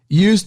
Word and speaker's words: used: A pronúncia é used. Se vocês lembram que a gente já teve uma aula aqui no podcast sobre a pronúncia do ED no passado. Use é o verbo usar. A gente vai usar esse verbo no passado. Vai ficar com a pronúncia de used. Esse ED vai ter som apenas do D. Used.